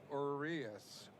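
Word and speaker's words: Urías: swung out and Miss u r i s and it's pronounced Urias one and one and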